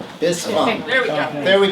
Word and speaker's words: Bispham: But you say Bispham, like fee fi fo fum Bispham. Bispham.